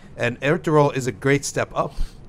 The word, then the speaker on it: Ertuğrul: There's one thing about Ertuğrul which it took me about a year to know that there's no G to be pronounced.